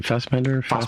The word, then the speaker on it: Fassbender: And Michael Fassbender, how do you say his last name? Fassbender, yeah. Fassbender. He's an Irish actor, by the way, even though he's got a German name.